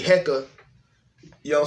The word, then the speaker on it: Heka: the science there's a there's a science behind the word uh hecka being pronounced like that and i'm going to